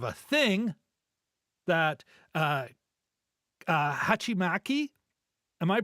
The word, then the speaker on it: hachimaki: that's kind of a thing that uh uh hachimaki am I pronouncing that correctly Jim yeah pretty close hachimaki yeah hachimaki anyway and uh you know of course uh